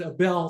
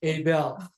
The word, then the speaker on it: Abell: am Abel see I pronounce it AEL for 30 years so it's going to be very very difficult for me to say Abel I am Abel's